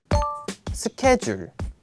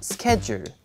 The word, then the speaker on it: schedule: 스케줄 schedule schedule schedule So schedule, that sounds quite totally different from the Korean style of pronunciation, right?